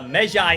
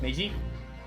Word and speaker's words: Meiji: game stars phoenix wright's ancestor around the uh mejai era of japan and is completely separate from the mainline ace of 30 series so you don't have to play period yeah uh meiji uh period pronounced meiji yeah meiji okay um so y'all have to